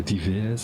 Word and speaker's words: Dives: Uh Dives, I think is the way you pronounce it.